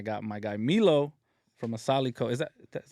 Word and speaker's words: Asaalico: Vic and I got my guy Milo from asaliko is that that's how you say it yeah